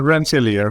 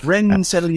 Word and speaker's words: Rensselaer: another MS in a school, I can't even pronounce it, Rohit. It's such a fancy... Rensselaer. Rensselaer.